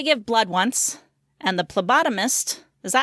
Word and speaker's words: phlebotomist: I went to give blood once, and the phlebotomist, is that how you say it? Phlebotomist? I thought it was... Phlebotomist. It does have a PH at the beginning, so I would go ph.